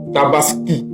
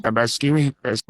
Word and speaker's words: Tabaski: Alors chers frères la deuxème remarque qu'on fait c'est que Alassan Watra n'arrive pas à prononcer Tabaski Tabaski Tabaski non il ditaskini Tabaskini Alass dit Tabaskini comme si c'était I qui